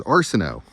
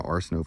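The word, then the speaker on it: Arceneaux: My last name was Arsenault, from Louisiana. It's a hat from Lafayette, Louisiana. My name was spelled A-R-C-E-N-E-A-U-X, A-R-C-E-N-E-A-U-X. Cajun French, not just French, Cajun French from Louisiana. Arsenault family has been in Louisiana for hundreds of years.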